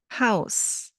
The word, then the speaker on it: Haus: Well, the letter combination AU in German sounds like Au in cow.